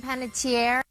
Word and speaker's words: Panettiere: I have her saying her own name, which I think is the best possible source we can get on this. So let's see. Hey, I'm Hayden Panettiere. All right. Panettiere.